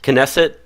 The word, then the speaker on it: Knesset: national address the Knesset am i pronouncing that right and so Israel's parliament yes Knesset person Nessa is the Kay silent I believe is the Knesset okay yeah the Knesset which